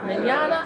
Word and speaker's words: Mignogna: Mignogna. I've been saying it well, right. it's Italian. And I know it's a lot harder. It looks daunting. Yeah. But it's pronounced pretty much like tomorrow in Spanish.